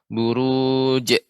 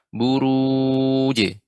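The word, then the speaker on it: البروج: ya Ibu Murni gym qalqalahnya pengucapannya tidak boleh adanya henti suaranya Buruj atau bertanya suara eh dipantulkan Buruj Buruj huruf wuji seperti itu ngojek J bukan J ya perhatikan bedakan dengan adanya Hamzah di akhirnya Bru je dengan Buruj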